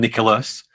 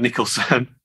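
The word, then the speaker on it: Nicklaus: nickel jack nicholson john nicholas which one john nicholson said jack nicholas yeah it's jack nicholas i have it wrong i had it wrong jack nick the greatest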